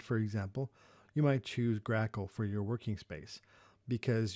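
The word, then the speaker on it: GRACoL: swap stands for and grackle is how that's pronounced those are two fairly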